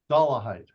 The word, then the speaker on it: Dollahite: asked you at a time how do we pronounce that dollah height doah height David doah height who was with a group called American families